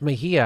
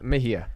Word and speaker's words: Mejia: 34 he's a green Party candidate it's Kenneth Mahia I pronounced that correct right correct Kenneth Mahia Kenneth Mahia now Kenneth you uh you look a little